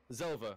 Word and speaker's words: Zheilver: Whilst, how do you pronounce it? Zheilver? Zheilver, yeah.